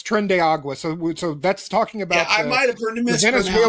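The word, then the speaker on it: Tren de Aragua: I think it's trenda. Okay. I don't know how that Yeah, that's that's trendiagua.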